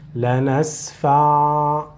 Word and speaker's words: لنسفع: So if you read this word alone, you will stop with this letter, the letter Ain. لنسفع لنسفع.